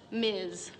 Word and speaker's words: Ms: to make things equal we have this new designation in front of our names Ms pronounced Miz but h that ain't